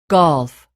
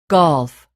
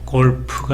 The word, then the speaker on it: golf: golf, golf. 2, friend, friend. shoes, shoes, cash, cash, strike, strike, bridge, bridge, hand, hand, 네, 골프가 아니라 golf죠. 우리말식으로 하면 골프 이런 식이 되는데 이렇게 되면 두 개의 봉우리가 나타나죠.